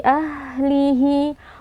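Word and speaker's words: أهله: Fi ahlihi, huruf H alirkan nafas dan suara. Ahlihi, di sini terdapat lagi mad silah sughra. Cara membacanya kita panjangkan 2 harokat.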